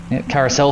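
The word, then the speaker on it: Karussell: dotting a here where where it's pronounced carousel feels nice and bumpy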